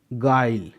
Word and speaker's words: guile: Guard, GUILE, गाइल, GUI, यहाँ पर जी के बाद यू और यू के बाद एक वाउल आई है इसलिए यू साइलेंट है।